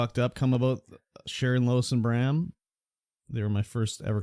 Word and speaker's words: Bram: surrounded by Sharon Wilson Brown it's not brown it's Bram b-r-a-m -usain Brown mosh said